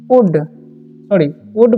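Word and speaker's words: would: ठीक है, अब हम आगे की ओर बढ़ेंगे और अगले सेंटेंस जो है वो है ही वुड पढ़ेंगे इसे। ठीक है, एल जो यहाँ पर साइलेंट रहता है, इसे पढ़ेंगे हम गो टू द एंथिल।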